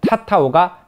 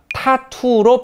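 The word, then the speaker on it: tatau: 모아나를 안내해주는 장면도 나오죠 타타운은 원래 폴리네시아의 전통 풍습인데 발음을 유럽인들이 잘못해서 타타오가 타투로 발음되게 되어서 오늘날도 우리가 영어로 문신을 타투로 알고 있는 것도 폴리네샤 문화에 영향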